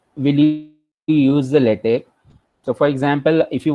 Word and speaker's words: LaTeX: So for that purpose, you will be using the LaTeX. Second thing regarding the pronunciation, so the word is written, it's like latex, but it is pronounced as latex. Okay, it's a tech, it's not a text.